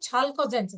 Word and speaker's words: chalcogens: P is silent here. Pnictogens. 16th group, chalcogens.